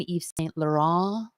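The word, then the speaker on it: Yves Saint Laurent: as valentino calvin klein eve saint laurent you got to say it like that you can't even say laurent you're gonna say eve's thank you to eve eva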